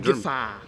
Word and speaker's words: Gefahr: Gefahr. Okay, Gefahr. Gefahr. Okay. Like Jafar from Aladdin.